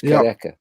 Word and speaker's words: Kariega: Well, Marika's almost got the name pronounced perfectly. Marika, now it's Kareka.